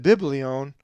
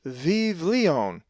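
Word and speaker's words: βιβλίον: If you said biblion, you would be wrong, for it is vivlion, with the va sound and the two veetas, and the accent over the iota, vivlion.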